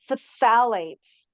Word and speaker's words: phthalates: a P it's um the pH is an F sound so it's phthalates phthalates phthalates okay yeah